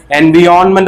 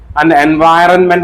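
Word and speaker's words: environment: കുട്ടികൾ എപ്പോഴും വരുത്താനുള്ള മിസ്റ്റേക്ക് ഞാൻ ചോദിക്കുന്ന സമയത്തൊക്കെ അവർ എൻവയോൺമെന്റ് എന്ന് പറയും എൻവയൺമെന്റ് എന്നൊക്കെ പറയുന്ന ആൾക്കാരുണ്ട് എന്നാൽ ഇതിന്റെ കറക്റ്റ് ഉച്ചാരണം എൻവയൺമെന്റ് എൻവയൺമെന്റ് എൻവയൺമെന്റ് ഓൾ of potato അല്ല പൊട്ടേറ്റോ ഓൾ ഓഫ് പൊട്ടറ്റോ ട്ടോ.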